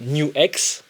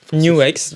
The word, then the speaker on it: NUX: Euh ce que j'aime avec Nux, euh New X. New X qui prononce bien dit New X.